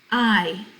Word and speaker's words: hay: how many cuantos elefantes i h a y is pronounced i like your eyeball i and it means are